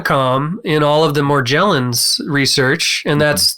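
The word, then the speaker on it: Morgellons: in all of the more gel ins research and that's that is the correct pronunciation of it it's a soft G because it's back to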